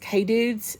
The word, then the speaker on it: Kedudes: get them off Amazon I think that's pronounced K dudes they're four by six